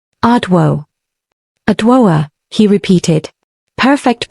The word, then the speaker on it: Adwoa: And before you ask, it's adwo, not adua, not ado, adwo.